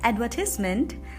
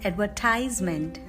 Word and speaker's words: advertisement: So, in British English we pronounce it as advertisement, and in American English we pronounce it as advertisement. Advertisement, advertisement. Next word, number 2.